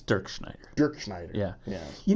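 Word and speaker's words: Dirkschneider: Dirkenschneider. Actually, it's Dirk Schneider.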